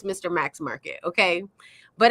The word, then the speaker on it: Mr Max: he always first off I always say it wrong it's Mr Max Market but BEC here's the thing in my mind because it's capitalized MC I call it MC but it's Mr Max Market okay but it's